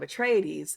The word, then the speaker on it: Atreides: things that the like the pronunciation of atreides and this version does is sort of give you a implication of like greek roots which to me matches with the paul right because it's like